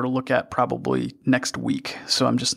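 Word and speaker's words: Weex: And that project's called Weeks. That's spelled W-E-E-X.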